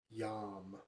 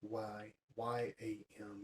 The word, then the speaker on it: yam: Its sound is yam, Y-A-M, yam.